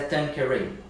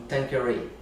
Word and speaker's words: Tanqueray: Se quiser falar Tanqueray, Tanqueray, do jeito que quiser falar, o importante é a pessoa entender que é isso que você quer, não é mesmo? Mas na pronúncia em inglês. Eu sei que tem uma professora de inglês aí me assistindo, e se eu falar errado agora ela vai puxar a minha orelha, mas é Tanqueray, com esse sotaquezinho, Tanqueray.